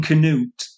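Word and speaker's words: Cnut: the king of Norway who's called King Canoot. It's spelled C N U T and he becomes known as Kenup the Great.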